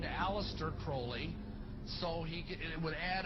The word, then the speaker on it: Crowley: BR have his name pronounced Crowley to rhyme with holy and uh the satanists